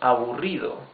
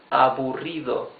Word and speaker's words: aburrido: You can also say less boring, menos aburrido, menos aburrido. These are 4 syllables. Aburrido. Remember, the double R is the rough sound of the R.